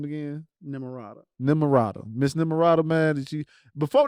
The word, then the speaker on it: Nimarata: Nimarata.